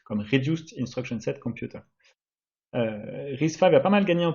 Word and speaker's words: RISC-V: Donc déjà, ça se prononce bien RISC-V. Le 5, c'est le numéro de version, et RISC, ça vient de Reduced Instruction Set Computer.